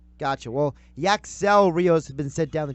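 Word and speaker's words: Yacksel Ríos: sound rock is the accent yeah accentuated syllable syllable gotcha well yaks elrios has been sent down the triple-a and they've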